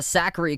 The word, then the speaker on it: Sakkari: but it's not like if i was looking at a piece of paper before going to like a pronunciation guide i would have thought the last name was pliskova and then saqqari but it's pliskova and zachary so zachary up 2-1